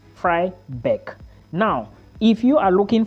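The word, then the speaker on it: Freiberg: located it is located in fybe not fry book there is fry book and there is fry bck now this one I'm talking about is spelled f r e i b e r g this is fry Beck now if you are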